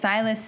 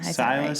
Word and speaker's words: Silas: doesn't know but syus doesn't know that because silus thinks that Amara is like legit dead so I mean wait now I'm saying it wrong yeah no yeah syus thinks syus thinks Amara is dead let's just